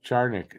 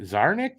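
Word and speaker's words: Czarnik: what's his name zaric oh yeah charik zarnik that's how it's pronounced I didn't know that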